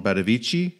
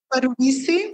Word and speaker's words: Badovici: Because my understanding is that Eileen Gray and a man she was with, Jean Badovici, is that how you pronounce his name? Yeah, I think Badovici.